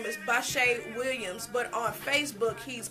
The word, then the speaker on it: Bashae: Look up Bashay Williams on Facebook.